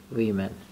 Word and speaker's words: women: وومن نیست که اس بگیره، غلطه، شکلش تغییر میکنه، میشه چی؟ ویمن. یعنی در حقیقت این وومن به جای ای آورده میشه، تلفظ میشه ویمن.